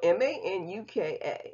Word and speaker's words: Manuka: Now, it's spelled M-A-N-U-K-A, Manuka.